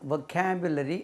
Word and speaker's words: vocabulary: वोकैबुलरी, इसके दो तलफ़ुज़ हैं, वो और व। वोकैबुलरी और वोकैबुलरी। वोकैबुलरी stress lyase on खा। वोकैबुलरी, वोकैबुलरी नहीं कहना इसको, वोकैबुलरी।